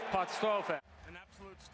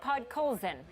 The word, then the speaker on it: Podkolzin: Petersburg of the KHL, Vasily Podstrophe. Okay, so a bit of a mispronunciation there from Canucks legend Stan Smil. Vasily Podkolzin is 17 years old,